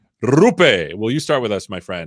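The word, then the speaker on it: Roope: And because I just learned how to say his name correctly, Rupe, will you start with us, my friend?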